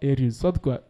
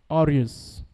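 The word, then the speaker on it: aureus: the most popular one you know AR is not AR the way that pronounced that thing is not AR is orus okay so let's write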